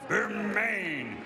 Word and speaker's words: Bermane: Stiverne has heard his first name pronounced every which way. Bermane, Bermane, it's Berman.